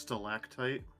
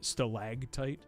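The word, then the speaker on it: stalactite: I believe it's pronounced stactite as in like the thing that um in a cave that as opposed to stagtite.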